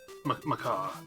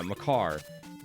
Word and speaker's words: Makar: where you have to use how do you pronounce his name? Makar? Makar. Yeah, Makar.